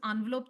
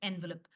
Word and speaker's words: envelope: Hi, there are two pronunciation. One is envelope. The other one is envelope. Please download a dictionary app and check. Miam Webster or you could do Oxford or Cambridge. It gives you both the pronunciation American and British.